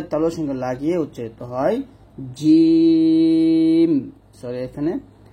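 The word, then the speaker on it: جيم: সঙ্গে লাগিয়ে উচ্চারিত হয় জিম, সরি এখানে জিম, শিন, ইয়া, এরকম। অর্থাৎ জিম যখন উচ্চারণ করবেন সতর্ক থাকবেন, জিম উচ্চারণ করার সময় জিহ্বা যেন কোনোভাবে দাঁতে না লাগে, দাঁতে লাগানো যাবে না।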